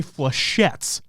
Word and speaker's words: flechettes: And I have no idea if that's actually what that word is or how to pronounce it, but I'm going to say flechettes. No, that's right. That's correct.